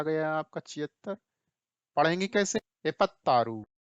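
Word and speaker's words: ಎಪ್ಪತ್ತಾರು: एपत्तारू, ये देखिए स्पेलिंग देखिए, ठीक है, कैसे पढ़ेंगे? एपत्तारू, ठीक है।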